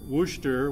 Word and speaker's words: Worcester: first in 2010 at närcon it was in Worcester which is how you pronounce that I had learned the hard way